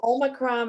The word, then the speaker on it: omicron: ignoring i'm sorry so omicron is uh yeah it's always it's always it's always pronounced treated short omicron yeah just think of pop pop shot put the two and news